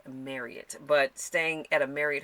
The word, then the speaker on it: Marriott: Let's face it, a Marriott hotel, I'm sorry, my sister would get me if I did not pronounce it right. It's Marriott. I thought it was Marriott, but she worked for Marriott, and so her and her fiance, and so it is pronounced Marriott.